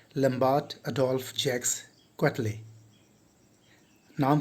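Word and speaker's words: Quetelet: अगर आप लास्ट में उनका नाम देखेंगे तो लगेगा कि क्वेटलेट है, लेकिन जिस तरह से हम लोग वेंसडे में डी का उच्चारण नहीं करते, बहुत लोग वेडनेसडे बोल देते हैं जो असल में गलत होता है, इट्स वेंसडे। उसी तरह से इनका नाम है लम्बार्ट अडोल्फ जैक्स क्वेटले।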